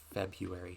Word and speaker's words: February: end of February February most people say February but I'm trying to pronounce it how it is spelled come the end of February and at the beginning